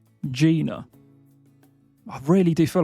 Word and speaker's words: Gina: Next up, we have our girl Gina, and this is said with a soft G, so this is Gina. Gina.